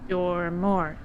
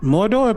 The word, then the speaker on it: Mordor: I'm pretty sure it's actually called Mordor, but if you want to say it wrong, then I guess I'll say it wrong with you.